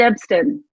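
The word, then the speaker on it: Epston: And then shout out to David Ebston, that is how you pronounce his name, and Michael White, the founders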